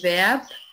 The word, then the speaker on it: Verb: Das Verb بتقيلة.